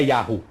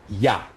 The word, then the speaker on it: Yah: pelo judeus não é Yahoo não é Yahoo é Iá então ya é o